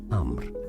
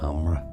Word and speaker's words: Amr: In Arabic, it is said as Amr. So just roll the Amr. R a little bit after the M. Amra. I guess in English you could say Amra or Amr.